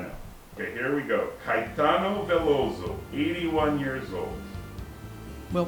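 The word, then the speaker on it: Caetano: okay here we go Kitano voso 81 years old well first of all I can't say his name very well Kitano Tao K kaitano kaitano very good kaitano plays the guitar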